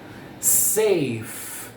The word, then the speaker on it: safe: Safe, com F, safe. Tem E no final, o E silent letter. O E é uma silent letter, ok?